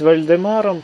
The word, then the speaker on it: Владимир: степени Вальдемар даже чем Владимир его можно называть вальдемаром поскольку он контактировал соответственно с варяжским миром а варяжском произношении имя Владимир звучит как Вальдемар и даже в таком